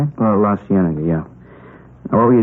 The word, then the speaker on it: La Cienega: Oh, La Cienega, yeah.